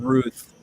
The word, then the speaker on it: Routh: It's Brandon Ruth. He's from Iowa. That's how I know how to say his name.